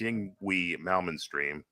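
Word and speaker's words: Yngwie Malmsteen: a bob leevy mids pronunciation it's Ying we malman stream but yeah call it what you want Yung way malman okay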